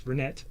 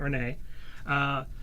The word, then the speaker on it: Renet: I'm pronouncing right because it is Renette, not Renee.